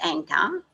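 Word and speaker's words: ankh: to okay a n it's it's pronounced anchor but i i know it i'm sure it's a n k h or a yeah i'm pretty sure it's amkh so just go and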